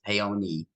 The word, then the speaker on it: Paone: name is paone a lot of people mess up the pronunciation of the name because it's Italian but it's the E is the E is said at the end so it's p-a-o-n-e it's payone e um and my website's